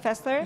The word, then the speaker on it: Fessler: Fessler, is that how you say it, Fessler? Yes, you have it correct.